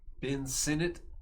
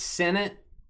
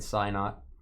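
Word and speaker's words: Ben Sinnott: Ben Senate is how you pronounce it. Senate. I I I've done SIT. Senate. Uh oh, it's a KState guy. Trevor's a KState guy. Uh, okay. So, it's Senate.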